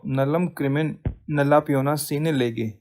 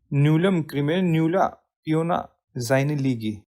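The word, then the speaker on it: nullum crimen nulla poena sine lege: principle of क्रिमिनल लॉ नलम क्रिमिन नला पियोना सीने लेगे अब देखिए हम तो इसको ऐसे पढ़ते हैं हा प्रोनाउंस नूलम क्रिम नूला पियोना जाइन लीगी this how pronounce इन proper Latin इसका मीनिंग क्या होता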